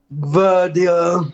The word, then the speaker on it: Guardiola: Guardiola, is that how you pronounce it? Guardiola, yeah.